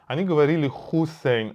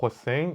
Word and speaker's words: Hossein: They said, "Your name is Hoossain." I said... I... I taught them how to pronounce my name correctly. They would say "Hoossain". I'd correct them: "No, with an O, it's Hossein."